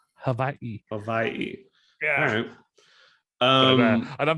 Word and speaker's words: Hawaii: is us to say hawaii right we don't even like it's like been mispronounced forever yep exactly it's it's like a v actually hawaii yeah um and i'm